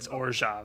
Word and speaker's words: Orzhov: from Ravnica, which is I say Orzhov, but it's I do too. It's Orzhov. Yeah, a lot of people say Orzhov. Anyway, that's I guess technically the correct pronunciation, but whatever.